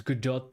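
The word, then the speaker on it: Godot: Is Gdot the uh the love is Gdot the love interest? Oh, wait. Actually, you're saying no tea. 100% no T. So, you're saying I was saying it right.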